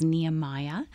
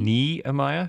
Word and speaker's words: Nehemiah: Bible story nemiah Nehemiah I've been saying Nehemiah my whole life have you really yeah oh is it not pronounced nemiah uh hello control room how do you guys say don't know I always say nemiah with a long like Jean oh well Jean is right